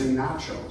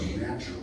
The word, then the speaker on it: Natchez: Don't say nachos, so Natchez.